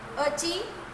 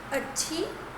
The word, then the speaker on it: अच्छी: प्रश्न 3, अची अच्छी है ना, अची अच्छी, अच्छी और अच्छी। सही शब्द क्या है? अच्छी।